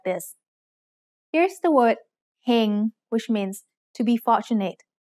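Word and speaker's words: เฮง: Here's the word heng, which means to be fortunate. Do you know the tone? Heng has a low-class consonant with a live syllable ending, so it's mid-tone.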